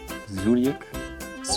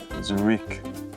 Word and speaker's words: Zurich: Then the next word is next one is this um Zurik. Almost there. Almost there. Zurik. Zurik. Zurik. No. Zurik. Zurich.